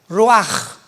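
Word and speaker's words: רוח: Pero la ch en el hebreo se pronuncia como j. Roaj.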